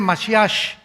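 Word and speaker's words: משיח: Entonces, por ejemplo, dicen eh Yeshua Amasiaj, o sea, Jesús el Mesías, se escribe masiah, Jesús el Mesías en el hebreo, pero es se pronuncia la ch Yeshua Masia y siempre pronuncian con dándole mucho énfasis a la palabra J en el hebreo.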